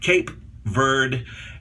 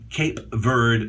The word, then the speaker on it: Cape Verde: say what you want cape bird actually would be proper cape verde when some people would